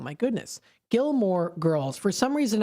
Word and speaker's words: Gilmore Girls: Gilmore Girls. For some reason, I'm saying it like Gilmore Ghoul, like ghouls.